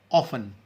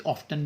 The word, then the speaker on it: often: ऑफन, OFN। Often, इसे ऑफ्टन भी कहते हैं, दोनों तरह से प्रोनाउंस होता है।